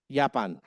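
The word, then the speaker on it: Japan: अगर ऐसा लिखा हुआ मिले आपको जे ए पी ए एन तो इसको जापान नहीं पढ़ेंगे जर्मन में इसको जापान पढ़ेंगे यापान ओके यापान अंडरस्टैंडिंग एवरीवन आई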